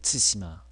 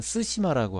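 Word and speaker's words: 対馬: 츠시마. 그런데 우리말에 어떤 사람들은 쓰시마라고 하죠. 쓰시마도 아니고 사실은 츠시마도 아닙니다. 츠시마입니다. 츠시마. 그래서 우리나라 사람들의 귀에는 쓰시마라고 들릴 수도 있지만 사실은 그렇지 않다는 거.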